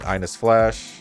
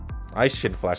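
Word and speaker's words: Eishin Flash: Aishin Flash, not Ines. Why am I saying Ines?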